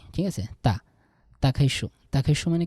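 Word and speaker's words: 打开书: তাকাইশো। তা চাইনিজের ডি এর উচ্চারণটা এমনভাবে করবেন যাতে ত এর মতো মনে হয়, ঠিক আছে? তাকাইশো।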